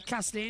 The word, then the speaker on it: Casadei: And it's not like Nick Cassidy, it's Mattia Cassidy. It's spelled Casadei. So it's slightly different than the Cassidy that we see in Formula E.